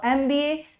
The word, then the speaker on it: MBA: MBA जो है, MBA भले ये M है मगर इसकी प्रोनाउंसिएशन ए है, एम है ना, ए इसकी साउंड आएगी।